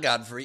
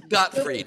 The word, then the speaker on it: Gottfried: pronounce god free and it's not godfrey it's got huh it's gottfried gilbert got free told